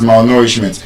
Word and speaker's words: malnourishment: Which means when we now want to pronounce malnourishment, the stress will still be on that nour.